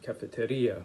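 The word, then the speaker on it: cafetería: So I think cafe is called cafeteria with the accent on the I.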